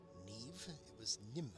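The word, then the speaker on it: Niamh: Allow me to introduce former Hogwarts headmistress, Neve Fitzgerald. How is MH pronounced as V? Neve?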